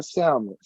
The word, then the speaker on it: Salmon: Shout out to Pastor Pierre Salmon. It's Salmon. It's Salmon now. Not the food, Shauna. Salmon. Not the food. He pronounced the L in his name.